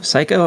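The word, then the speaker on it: Psikyo: Uh, it's uh the games are all by developer Seiko. P S I K Y O. Psycho. Okay. I I assumed it wasn't pronounced that way from the spelling.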